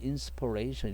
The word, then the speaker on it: inspiration: 자, 그리고 inspiration 발음은 명사는 inspiration 이렇게 되죠.